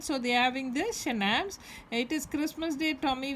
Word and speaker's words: schnapps: Schnapps is pronounced as schnapps, a German drink made from grain.